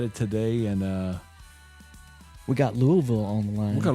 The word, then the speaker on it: Louisville: How do you pronounce it, man? Louisville. See? Louisville.